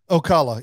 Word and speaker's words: Ocala: do you say that town because I remember Ocala yeah yeah that's how you say it because